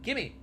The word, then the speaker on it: gimme: write it though, but how would you think we would say that? Give me $5, give me, gimme. But he gave me. There's a way that we all pronounce it, and it's not gave me.